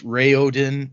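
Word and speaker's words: Raoden: unquote correct so uh i'm gonna say rowden because that's how i say it in my head and wrathen even though technically it's rayodin and raythen but an interesting note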